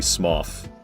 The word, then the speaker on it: Smough: And that's why it's definitely Smough.